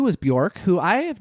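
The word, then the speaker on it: Björk: Number 2 was Bjork, who I have not done a big I'm saying it right, Bjork, right?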